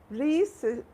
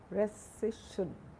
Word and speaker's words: rescission: I think the spelling is rescission. I think the pronunciation is rescission or recession.